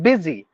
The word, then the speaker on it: busy: the vowel and then busy the spelling is BU u y but you have to pronounce it as it is b i z y busy cause change choose chose